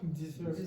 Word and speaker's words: dessert: And the problem is a lot of Spanish speakers, especially from Spain, will start changing s to sh and z to j, etc.